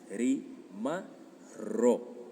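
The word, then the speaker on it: rimarrò: del futuro, sino que doblas la R y dices rimar ro.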